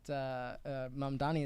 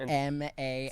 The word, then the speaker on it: Mamdani: when we're talking about the sorts of laws that are going to be passed and the sorts of promises that Mamdani is unleashing on Cuomo, I'd like to quote Mamdani here on one of the debates to Mr.